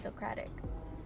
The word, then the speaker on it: Socratic: I think I pronounced it wrong in my other video. I would always say Socratic. I don't know why. It's Socratic.